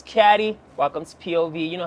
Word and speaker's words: CAD: fresh prince of radio my name is c-a-d where I pronounce caddy welcome to POV you